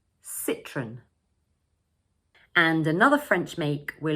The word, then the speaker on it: Citroën: So we pronounce it as 2 syllables, and for the first one, we say sit.